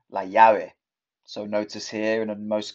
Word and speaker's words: llave: Llamar, la llave. So notice here in most countries, the double L is pronounced the y, y. Llamar, la llave.